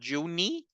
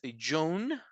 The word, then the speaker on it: June: June, notice that the E does not exist, right? The sound of the E is not there. Is not Juni, is June, June.